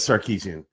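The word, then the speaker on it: Sarkisian: really big name and he's sarkeesian it is sarkeesian look at how to spell it so you know you can't he made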